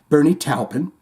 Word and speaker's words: Bernie Taupin: celebrating Elton John and Bernie talpin because I too say it like Shane does Bernie talpin a songwriting partnership and